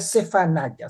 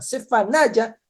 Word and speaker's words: צְפַנְיָה: Sí, es en este contexto donde Dios levanta a este profeta, donde Dios levanta a Sofonías, que en hebreo se pronuncia Cefanaya. Cefanaya.